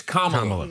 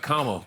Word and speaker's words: Kamala: Yeah, How do you pronounce it? It's Kamala. Like Kamala.